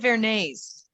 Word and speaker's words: Varanese: think she said Vernay's, which is on Yeah. Frankfurt Avenue. Mhm. How do That's you right. spell that?